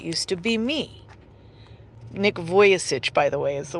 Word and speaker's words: Vujicic: There's no K. I C I C. Vujicic.